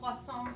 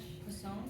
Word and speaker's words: Poisson: called poisson distribution, just in case you really want to know how to say it. Poisson, like that? Poisson, like a fish.